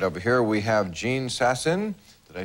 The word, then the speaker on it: Jean Sasson: Right over here we have Jean Sasson.